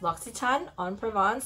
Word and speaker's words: L'Occitane en Provence: a ton on Provence say it with me Lux Etan I thought I should share with y'all how to say it properly because a lot of people come in and tell me all this different way to pronounce locks it's out but